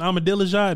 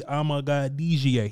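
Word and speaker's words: Amegadjie: So Kingsley Sewell-Matea, a dude from BYU, Kieran Amadilajah, that's not how to say his last name. It's really Amagadijie.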